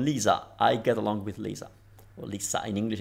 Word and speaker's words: Lisa: It's Lisa in Italian between vowels vibrates into Z.